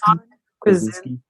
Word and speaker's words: Krasinski: John Krasinski.